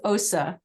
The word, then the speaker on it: OSE: And forgive me, I forgot how to pronounce OSE. No problem. It's OSA. It's OSA. very non-intuitive, so yeah, no problem.